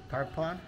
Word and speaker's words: Tarpon: say Tarpon Springs Tarpon or Tarpon or Tarpon Tarpon t a r p o n okay okay